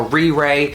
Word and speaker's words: RiRe: that called a RiRi I believe it's pronounced re ray and this claims to